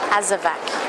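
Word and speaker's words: Azawakh: Azavak spelled with a W.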